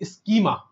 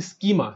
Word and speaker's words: schema: Technical language के अंदर स्कीमा, क्या बोला मैंने? स्कीमा। सर स्कीमा की स्पेलिंग क्या होती है? SCHEMA, इसको बोला जाता है बेटा ई इनवॉइस स्कीमा।